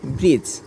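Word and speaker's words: bridge: ডি এর পরে জি হয়েছে এর জন্য ডির উচ্চারণটা হয় নাই এরপরে ব্রিজ ব্রেড আমরা দেখি ব্রিডের মধ্যে দেখি বি আর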